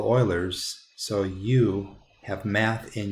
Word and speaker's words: Euler: guy right here and i don't know if you know how to pronounce that but that sounds like so euler is the guy that figured it out you guys are all oilers so you have math